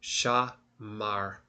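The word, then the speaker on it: שמר: So, shamar is how we would have to pronounce it.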